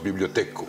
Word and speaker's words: bibliotheca: Donc écrit bibliotheca et on prononce bibliotheco.